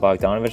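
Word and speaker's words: Bogdanović: opinion that's just the numbers but Bowie on Bogdanovich Utley that's how you say his name be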